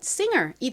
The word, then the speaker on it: singer: 그런데 여기서는 이 S가 좀 세게 거의 쌍시옷처럼 발음이 됩니다. 다음 I는 이 소리, 그리고 NG는 이응 받침으로 들어가죠. 끝에 이 R은 소리 나니까 연결하면 singer이 되죠.